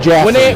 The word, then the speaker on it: Jaffe: Is it Joff? I could have some fun and say yes, but I won't. It's pronounced Jaffe.